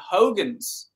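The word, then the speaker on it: Huygens: physicist ah yes but apparently they pronounce his name Hogans you know if we're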